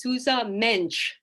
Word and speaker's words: Sousa Mendes: And I learned something very quickly when I met my first Portuguese person, was that they pronounce Sousa Mendes's name as Sousa Mensch.